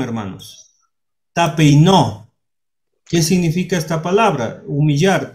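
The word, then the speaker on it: ταπεινόω: Y aquí está la pronunciación, hermanos. Tapeinó.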